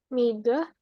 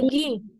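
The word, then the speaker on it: 右: Kanan itu Miga. Mi. Migi. Hai, Migi.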